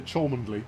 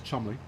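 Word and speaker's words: Cholmondeley: uh i knew that i live near chaumondley and apparently that's chumley yep yep it is yeah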